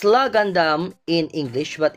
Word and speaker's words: LAH Gundam: okay and uh it's la Gandum in English but in Japanese it's called raw Gundam because they cannot pronounce the L.